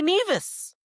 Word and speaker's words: Nevis: Your ass can say NeAs.